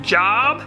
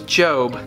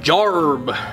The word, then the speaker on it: Job: I think it's pronounced Job. No, it's Job. Job. Job. Say it with me, Job. Jarb.